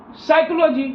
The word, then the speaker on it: psychology: Word meaning होता है PSYCHOLOGY साइकोलॉजी। लेकिन यहाँ पी जो होता है यह पी साइलेंट होता है, इसलिए यहाँ पे पी को नहीं बोला जाता है।